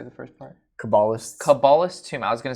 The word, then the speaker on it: Cabalist: Cabalist.